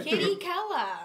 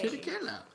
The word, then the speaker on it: Chirichella: Chirichella. Like, last time you guys just said, I think, when I commented. Chirichella.